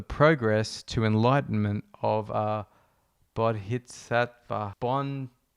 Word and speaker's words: bodhisattva: to enlightenment of a bodhisattva. Julie, how do you say that? Bodhisattva. Julie said, think Bodhi from Point Break.